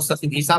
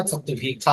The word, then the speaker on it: शतभिषा: क्या आप लोग शतभिषा बोलते होंगे, लेकिन शुद्ध उच्चारण इसका शतभिखा होगा।